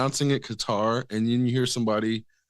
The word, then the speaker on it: Qatar: a heart exactly exactly so it's not cutter it's not it's more like qar like guitar so either even even when you take out the consonant or The Vow it's not cutter it's Qatar like or yeah a deeped k or hardish G sound depending on the dialect and then deemphasizing the